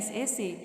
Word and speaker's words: sake: से एक Japanese drink है, उसको SAKE लिखते हैं, लेकिन इसको हम प्रोनाउंस से करते हैं, SA से.